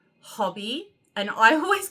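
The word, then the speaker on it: Hobbii: Okay, some of these um Hobie yarns or should say it's actually pronounced Hobby and I always call it Hobie.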